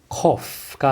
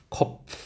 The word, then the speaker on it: Kopf: cough가 아니라 kopf, kopf. 그 다음 Pflicht, Pflicht. 네, 잘하셨습니다. TS 발음이 나오는 경우는 앞에 Z, TZ, TS, 그 다음 DS가 있는데요.